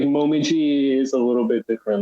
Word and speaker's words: Momiji: Was it Masiji? Momiji, that's Momiji. Yeah, that's Momiji, yeah. Yeah. Sorry. Okay, so that's just the actual Japanese pronunciation for it.